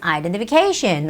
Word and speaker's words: identification: the first syllable stress the word identification see how long the word is it's identification identification the stress goes on the syllable ca a is the vowel that has the stress so it has to be identification identification alright beverages beverages or